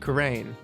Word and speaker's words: Khura'in: And apparently, Khura'in and Khura'in are both pronounced Khura'in. What? The apostrophe's there just for flavor.